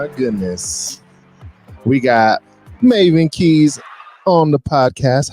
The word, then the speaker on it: Maven: Or is it like Marvin? Nope, Or it's is it? Maven.